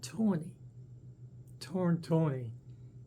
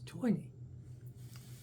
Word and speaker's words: Toini: Remember, you Americans watching this, it's not Tony, Tony, it's Toini. There's two I's, before the end and after the end.